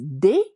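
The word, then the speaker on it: des: Uh so again good old pronunciation d s is day. Can we say that day?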